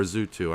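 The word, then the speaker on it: Zyu2: to fans as uh ju2 or zooto i know um which is how they pronounce it yeah drew too yeah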